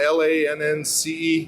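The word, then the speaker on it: LAANC: Lance, how's it pronounced? LANNCE?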